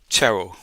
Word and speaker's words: Cherrell: Kate Cheryl. Congrat. You pronounced that perfectly.